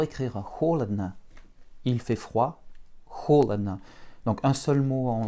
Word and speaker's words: холодно: Et un bel accent sur la première syllabe, ce qui rend nos deux derniers O comme des petits A.